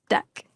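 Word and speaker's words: deque: I'm first going to type deck which is spelled D e quu e and then in a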